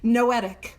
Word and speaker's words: noetic: The second description is that it is noetic spelled like with an N like Noel knowetic.